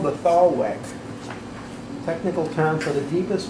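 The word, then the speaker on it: thalweg: That's called the thaw wick. technical term for the deepest, fastest flowing part of the stream. Could you spell that, please?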